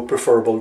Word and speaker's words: preferable: Preferable is not pronounced preferable. Sometimes people do that, prefer and they go preferable, they go around saying it. It is incorrect, it is improper. The correct pronunciation is preferable, as you can see here, preferable.